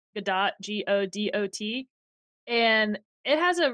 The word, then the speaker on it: Godot: It's spelled Godot, Godot, and it has a really active community.